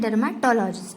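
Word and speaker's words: dermatologist: डर्मेटोलॉजिस्ट जैसे हमें इसमें ऐसे प्रोनाउंस करना है डर्मेटोलॉजिस्ट।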